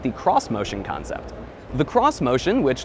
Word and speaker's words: Xmotion: cross motion concept the cross motion which looks like it's supposed to be pronounced X motion but isn't is supposed to preview